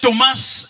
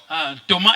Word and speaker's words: Thomas: Cet homme s'appelait Thomas Edison ou Thomas. Thomas Edison. On peut dire aussi Thomas. Ça dépend de comme vous voulez. Vous pouvez prononcer les S ou ne pas prononcer.